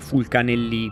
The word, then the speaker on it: Fulcanelli: Visto che fu probabilmente francese, andrebbe pronunciato alla francese Fulcanelli, ma secondo alcuni era inteso come nome italiano, quindi lo pronuncerò all'italiana nel video.